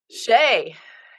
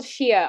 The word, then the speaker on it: Shea: name the first name I get called Shia all the time drives me nuts um but let's see